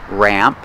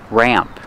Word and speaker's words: ramp: definitely a ramp pronunciation uses a short a sound like black cat ra ramp the a sound changes a little before the M it goes more nasal in your nose Ram ramp this is a ramp